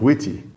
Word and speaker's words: Wt: use a web framework such as WT pronounced witty which is a c